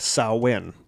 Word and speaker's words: Samhain: generally hear it, it's Samhain. And that it is not pronounced how it is spelled. It is pronounced Samhain.